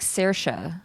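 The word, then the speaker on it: Saoirse: this whole time why was I saying Shiva it's spelled Siobhan but it's stupid it's like like sersha spell Sasha what the name Sasha I always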